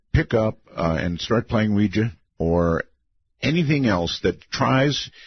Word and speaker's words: Ouija: it because I'm quite aware of the correct pronunciation is Ouija Ouija board I I will not have anything